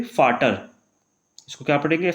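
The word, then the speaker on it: Vater: Last में आएगा हमारा यहाँ पे फाटर, इसको क्या पढ़ेंगे फै पढ़ेंगे, तो फाटर, इसको फोगेल।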